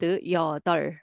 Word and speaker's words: 여덟: So I gave this pronunciation value here. So you have to read 여덟, okay?